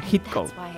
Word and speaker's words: Heathcote: Se pronuncia Heathcote.